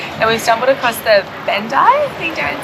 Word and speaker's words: Bandai: It's Bandai, not Bandai.